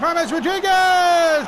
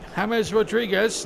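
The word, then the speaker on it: James Rodríguez: And James Rodriguez, not James Rodriguez, I should add. Substitution. And the PA announcer just saying it was James, but I can tell you he prefers his first name if it pronounced James Rodriguez.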